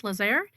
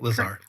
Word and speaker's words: LaZear: in the studio here we also have Gus Lazer did I pronounce that correctly Lazar Lazar thank you VP of operations and Sports